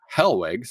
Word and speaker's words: Hellwig: it's Kristoff I think har Hellwig I said his last name wrong this time H